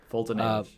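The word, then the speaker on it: Foltynewicz: I don't know how to pronounce his last. Somebody help. Fultonewicz. Thank you. Fultonewicz.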